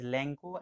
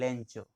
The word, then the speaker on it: Lencho: He is pronounced both as Lanko and Lencho.